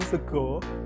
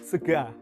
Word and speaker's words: sega: Perbedaan yang utama yakni akhiran A tetap diucapkan A, bukan O. Jadi, jika di Solo orang makan sego atau nasi, maka di Banyumas orang makan sega.